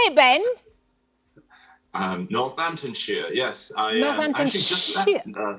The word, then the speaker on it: Northamptonshire: Northamptonshire, yes.